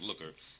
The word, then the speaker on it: Lucre: It's pronounced it's pronounced Looker, but it's spelled Lucre, and that term means what is it?